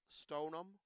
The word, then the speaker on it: Stoneham: Dyan Walsh for example any town that ends in ham stonum walam Stoneham walam Wenham it goes on it